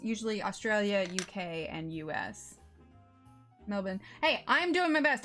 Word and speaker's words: Melbourne: pronunciation of I mean I say Melbourne because I'm pretty sure that's how Belinda said to pronounce it but I mean what's the pronunciation of it you don't really pronounce the r too much right okay I'm using